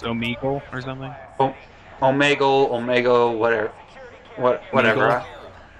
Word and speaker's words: Omegle: Omegle, whatever. Meagle? I pronounce it as Omegle because it's Omega plus something else.